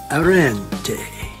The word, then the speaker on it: Arenti: is google translate arrente how do you like my italian so what do